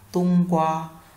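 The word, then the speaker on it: 冬瓜: Hoặc là ta có một dạng nữa to một chút đúng không, chúng ta đọc là tung qua, tung qua, tung qua.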